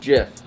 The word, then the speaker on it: GIF: it would be jeff it's pronounced jiff like the peanut butter let me see this